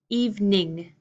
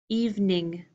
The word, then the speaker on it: evening: 3 syllables even Ning even in my short pronunciation evening evening have a good evening have a good evening